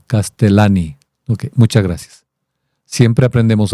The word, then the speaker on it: Castellani: Que Leonardo Casteliani eh se pronuncia como si fuera con una sola L. Castelani.